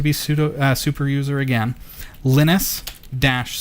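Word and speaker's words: Lynis: that so we're just going to go install linus and it's spelt a little bit differently than you would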